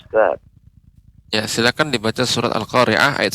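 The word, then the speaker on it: القارعة: khoriah ya airnya Bapa pengucapan lain ini agak lebih dia lembut al-qariah ya Tidak khoriah sehingga akan tampak seperti huruf hamzah demikian tulus hati dilatih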